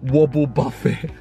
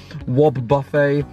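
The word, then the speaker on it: Wobbuffet: aom Slugma looks amazing wobble Buffet not wobble buffet wob buffet quill fish load uh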